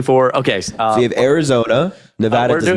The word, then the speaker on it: Nevada: okay we have Arizona Nevada do not border New Mexico so what state is to the east of Neva Nevada is how you say it what state is to